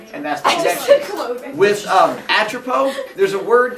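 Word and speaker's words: Atropos: The S is silent. It's Atropo.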